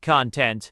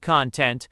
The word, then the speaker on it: content: the sweet content of the poet and the cubic content of the mathematician. Some distinguish these by stressing the different syllables.